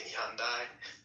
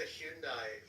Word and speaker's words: Hyundai: this kind of accent actually pronounce the Y in Hyundai. Like for some reason every other American just goes Hyundai. I'm like what? Hyundai. There's a Y there.